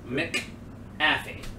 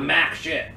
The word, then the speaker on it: McAfee: wrong you're an idiot it's m c a f mcafee ah it's not mac it's